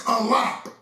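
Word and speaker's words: אלף: The word ain't Aleph, the word is Alap.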